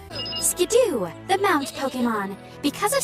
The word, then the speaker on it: Skiddo: to generation 5 however the anime is so far the only time we've gotten a quote-unquote official pronunciation on generation 6 pokemons names and the anime says skidoo skidoo the mount pokemon because